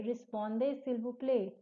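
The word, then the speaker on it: répondez s'il vous plaît: टी इसमें आपका साइलेंट है.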